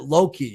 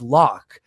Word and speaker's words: Locke: And the character Locke, as a kid, I pronounced it Loki because I had the E at the end for my entire life until I was a few years ago. My buddy's like, Loki, no, it's Locke.